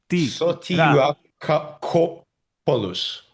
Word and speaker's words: Sotirakopoulos: You read every syllable as you read it. You pronounce it as you read it. Sotirakopoulos.